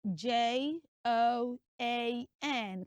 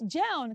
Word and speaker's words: Joan: properly pronounced as J so it's not Joan it's Jon can we say that